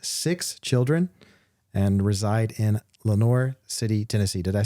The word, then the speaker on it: Lenoir City: husband clay have six children and reside in Lenoir City Tennessee did I say Lenoir City right okay